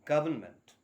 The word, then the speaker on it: government: is not for heaven's sake government it is government okay so please pronounce it as government and note the spelling